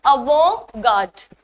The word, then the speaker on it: avant-garde: So the pronunciation is also different. Whenever we talk about foreign words, the pronunciation completely changes, right? So it's avant-garde. And it's a French word.